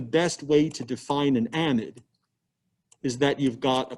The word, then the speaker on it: amide: our amide functional group amid amide and organic chemists pronounce it amid biochemists pronounce it amide and organic chemists are right and biochemists are wrong but anyway uh sort